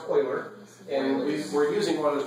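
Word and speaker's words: Euler: what about O's notation it's pronounced Oiler and we we're using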